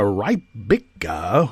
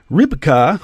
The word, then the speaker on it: Rybka: a woman called Nastya Rybika, who he claimed to be an escort. That's a nice way of putting it. Rybka, okay, that's how her name is pronounced.